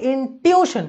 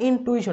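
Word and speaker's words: intuition: হবে, আমরা যদি বলি ইনটিউশন, কিন্তু স্পেলিংটা কিন্তু টিউশন টাইপের না, স্পেলিং কিন্তু আগে ইউ পরে আই, মানে আক্ষরিক উচ্চারণ করতে গেলে ইনটুইশন আইসা পড়ে, বাট এটা ইনটুইশন না, ইনটিউশন হবে, ঠিক আছে।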